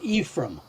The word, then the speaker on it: Ephraim: board partner David Jackson always pronounced the the name Ephraim and so that's that's what I say you say it follows nobody else's pronunciation not the Bibles and not anybody else's but it's always Ephraim so uh when I